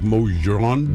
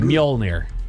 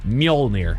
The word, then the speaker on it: Mjolnir: I can't pronounce it. Lightning? Lightning. I like it. Starts with an M, right? Like Mojron? Mjolnir. What? Mjolnir.